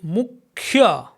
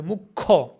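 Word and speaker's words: মুখ্য: Similarly, Mukhya. Mukhya. Khya. But in spoken Bengali, Mukho. Mukho.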